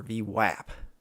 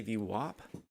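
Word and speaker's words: VWAP: whenever I see v-wop you guys use v-wop or v-wap I know you can't tell me how you pronounce it but I've heard it done both ways I say v-wop like that's the way it should be these buyers coming in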